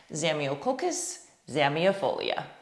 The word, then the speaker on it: Zamioculcas zamiifolia: now you have it put it all together zemiococus xamiafolia easy as that so this video doesn't last